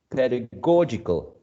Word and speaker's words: pedagogical: one final syllable okay so pedagogy stressed on the first syllable pedagogical in the third syllable okay uh keep that